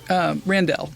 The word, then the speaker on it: Randelle: Sandy, your last name's not really Randall, right? Randelle is how I pronounce Randelle.